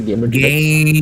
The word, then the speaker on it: Gamentrix: How do you pronounce it? Gamentrix? Gamentrix? Gamentrix? You can say Gamentrix.